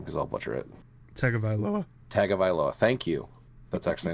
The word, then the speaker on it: Tagovailoa: and I'm not even going to try to pronounce his last name because I'll butcher it. Tagovailoa.